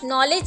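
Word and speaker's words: knowledge: Next word है नॉलेज means इल्म। नॉलेज, अब हम इसे नॉलेज तो नहीं रीड करेंगे, हम इसे रीड करते हैं नॉलेज। जब हम इसे रीड करते हैं तो इसके अंदर कौन सा वर्ड साइलेंट है? K।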